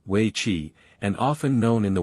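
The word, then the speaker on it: wei qi: China's most enduring game is We Chi, pronounced roughly Wei Chi, and often known in the West by a variation of its Japanese name, Go.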